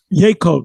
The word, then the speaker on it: Yaakov: We're Yakub. How do you say Yakub? Yaakov.